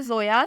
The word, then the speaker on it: ZOYA: नाम है जोया, स्पेलिंग है ZOYA।